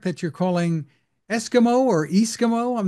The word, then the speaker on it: E-SKIMO: showing a product that you're calling Eskimo or esimo I'm not sure how you pronounce it tell me about it yes it's actually Eskimo stands for electric ski mountaineering well you're holding